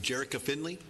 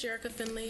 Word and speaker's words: Jericho Finley: cards first one Jarrett is that Jerrica Finley did I pronounce that right my name is Jericho Finley I'm from the Asian